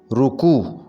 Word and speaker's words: رکوع: تلفظ ہوگا ظہور، ظہور۔ رکوع، صحیح تلفظ ہوگا رکوع، رے کے اوپر پیش آئے گی، رکوع۔ صنف نازک، صحیح تلفظ